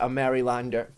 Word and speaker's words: Maryland: Lono is a Marylander. I say it wrong, apparently. How's it pronounced?